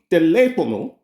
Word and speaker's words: teléfono: Teléfono. Now you know how to say telephone in Spanish. Teléfono. Okay? The reason why you're putting that little stress on the tele, is that accent mark. Teléfono.